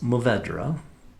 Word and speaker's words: Mourvèdre: Well, that's Mourvèdre. You've had it before because if you've liked GSMs, that's the M in the GSM. It's Grenache, Syrah, Mourvèdre. And you can say Mourvèdre.